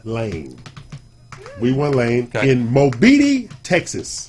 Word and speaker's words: Mobeetie: This is Not Les Beatty, but Mobeetie. Mobeetie. Mobeetie. It's Amarillo. Okay. So would you like to know how Mobeetie got his name?